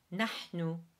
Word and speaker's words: نحن: the pronunciation, نحن, so the H is the same H in helm, where you make it through a constricted throat.